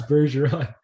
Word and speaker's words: Bergeron: I can't pronounce it. Patrice Bergeron.